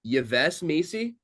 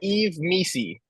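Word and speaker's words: Yves Missi: Is it Yves Misi? It is Eve Misi.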